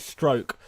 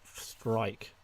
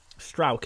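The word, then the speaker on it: Struijk: It's pronounced it stroke. I don't even know why I say it's Strike. Strauk, isn't it?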